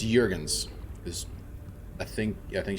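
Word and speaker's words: Juergens: Melina Jurgens no it's Jurgens this I think I think she is a Nordic programs Danish but uh the Nordic countries so the the Jays are pronounced as wise from what I understand the the model actually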